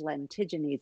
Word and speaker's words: lentigines: be a solar lentigo and the plural is lentiginese i know i really had to make sure i was pronouncing that right but there you have it